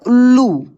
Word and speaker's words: उल्लू: निर्णय करेगा देखिए दोस्तों एक वर्ड लिखा है उल्लू उ आधा ल और फिर इसमें पूरा ल ऐसे उल्लू ल ल संयुक्त है तो इसके उच्चारण में जोर ल कैसे उल्लू देखिए उल्लू देख रहे